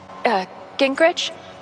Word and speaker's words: Gingrich: Steph, Gingrich?